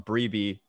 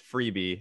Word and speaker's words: Freebie: I call him Sean Breeby after Corey told me it was Freebie, and I continue to say Breeby.